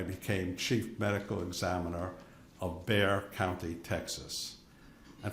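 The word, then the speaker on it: Bexar: chief medical examiner of Bear County Texas and for the transcriber bear is spelled be xar the exas silent um so I was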